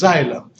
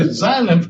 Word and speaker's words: xylem: water is called as xylem you pronounce it as like his Z if we do is spelled with an X all right let me